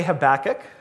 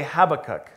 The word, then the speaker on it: Habakkuk: it differently some say habakkuk some say habakkuk they're both right so please don't be